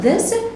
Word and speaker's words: this: طيب تعالى كده ننطق this اهو، التي اتش دي هارد تي اتش، بنقول ايه؟